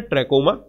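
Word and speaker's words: trachoma: सो यहां पर इसका प्रोनाउंसिएशन है ट्रैकोमा।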